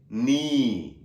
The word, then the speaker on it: knee: The third one is, here you have, you can identify the silent letter also, it is knee, right? K-N-E.